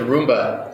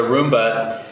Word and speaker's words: Roomba: using the vacuum cleaner what is it the rumba rumba rumba rumba I think I said it right the first time the Roomba and I know that the idea that you're